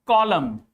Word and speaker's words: column: N is silent in all those words when n is just after m. Like in the words autumn. This is autumn, not ottoman. This is autumn. This is column.